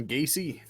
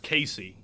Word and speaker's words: Gacy: that butcher in town gacy oh well his name's actually pronounced casey but yeah that's my